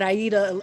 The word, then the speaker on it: Aïda: you doing I eat uh oh Miguel yo pronounce is is Aida that's how I'm supposed to say it yeah